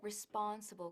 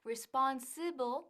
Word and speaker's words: responsible: decimos muy bien Ahora Cuidado con la pronunciación de responsible que no es responsible pero responsible responsible repite conmigo responsible muy bien Bueno vamos